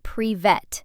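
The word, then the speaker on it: привет: This one is pronounced prevet and it simply means hi.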